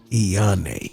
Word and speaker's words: Eonney: How you pronounce E? Okay, it's Superstar Eonney. Eonney.